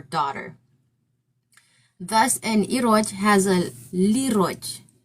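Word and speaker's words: liroj: Thus ano has a lero. I guess they change it to lero lero because is it's spelled l i r o j. Lero is how they translated it.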